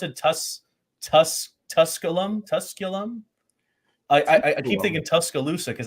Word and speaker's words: Tusculum: Where, how do you pronounce it? Tusculum.